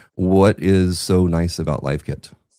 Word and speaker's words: LiveKit: model to pronounce because live and live are spelled the same.